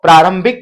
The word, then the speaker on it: प्रारंभिक: है वहां पर ये रकार में पूर्ण व्यंजन वर्ण र का उच्चारण हो रहा है तो प्रारंभिक पढ़ते हैं इसको यहां